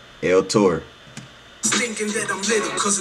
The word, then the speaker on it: L-Tore: Look, it's spelled T O R E. You feel me? Hey, my bad, Tor. El Tor.